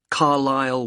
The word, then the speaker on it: Carlisle: and your address 45 carlisle way could you spell carlyle for me sorry it's c a r l i s l e you don't pronounce the s carlisle way and that's